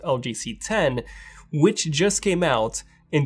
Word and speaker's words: LG CX: Well, LG HQ actually got in touch, and they sent me the brand new LG CX, which is actually pronounced LG C10, which just came out in 2020.